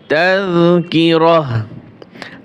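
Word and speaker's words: تذكرة: আর এখানে যদি আমরা ওয়াকফ করি, ওয়াকফ করার নিয়ম হচ্ছে ওয়াকফের স্থানে যদি এরকম গোল তা থাকে, তাহলে ওই তা হার মতো উচ্চারণ হয়।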